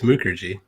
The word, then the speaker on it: Mukherjee: you yeah it's a it's a long you it's Mukherjee oh so you did